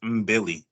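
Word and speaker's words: Mbilli: name bro um um basically Billy with an M so it's MB Billy MB Billy MB Billy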